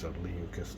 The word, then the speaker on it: Leucas: Alright, it's a Leucas, not Lucas.